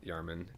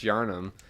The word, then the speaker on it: Yharnam: history of the Armand yarman Yanam I think I've been saying yarman the whole time it's yharnam it's an interesting mouthful of syllables but but yeah it's